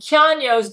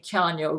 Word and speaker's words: Keanu: When I spoke with Keanu Reeves, and Keanu's the one who likes me to pronounce his name, Keanu Reeves. Keanu says, everybody pronounces my name wrong, Gail. It's not Keanu. He says, it's Keanu.